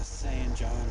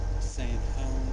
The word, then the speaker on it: San Juan: So we'll find out when we get to San John, New Mexico, or as the locals say, San Juan.